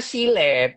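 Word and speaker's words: Gillette: itu ada apa silet mereknya Guilete gitu loh itu dibacanya silet itu king silet king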